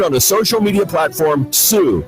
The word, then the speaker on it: Tsu: Winning videos will be streamed on the social media platform Sue, that's spelled TSU, and the overall winner